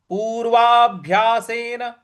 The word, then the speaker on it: पूर्वाभ्यासेन: है पूर्वाभ्यासेन पूर्वा पूर्वा देखिए यहां पे जो भ है उस पर थोड़ा सा हमें बल लगाना है पूर्वाभ्यासेन तेनव ते नैव न